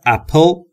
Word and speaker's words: apple: دوستان تلفظ apple دقت داشته باشید. بین P و L صدایی وجود نداره. پس میگیم apple. پل پل مثل people.